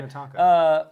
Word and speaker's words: Minnetonka: These are my Minnetonka. I say it right? Yes. Okay, that sounds about right. Minnetonka.